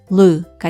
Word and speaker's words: blue: 여기에 이는 묵음으로 소리가 나지 않습니다. 그러면 한번 묶어보면요. 이렇게 되죠. blue가 됩니다.